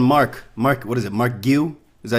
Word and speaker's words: Marquinhos: Mark Giu? Is that how you say it? Marquinhos, yeah.